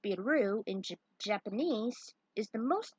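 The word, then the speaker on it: ビール: Lager beer, pronounced biru in Japanese, is the most popular drink, pointed out each selection.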